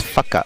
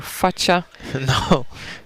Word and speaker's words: Facca: It's Facca. Facca. Yes. So we were not sure if it's Facca or Faccia. No, it's Facca.